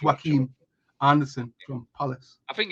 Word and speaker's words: Joachim: the new season um you still think it's pronounced Joachim I know it's not that like I know it's not Jewish it's not phonetically I think it's Joaquin Anderson from police I